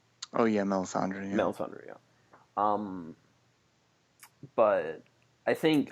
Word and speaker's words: Melisandre: add up and it was good to see mandre again is that how you pronounce her name oh yeah Melisandre Melisandre yeah um but I think I think